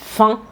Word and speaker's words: enfin: En fait, fin, c'est enfin, sauf qu'on a avalé la première syllabe, on l'a enlevée. Donc, à la place de dire enfin, on dit fin.